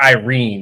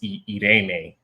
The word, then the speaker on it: Irene: It's not Irene, it's Irene, but it's spelled Irene.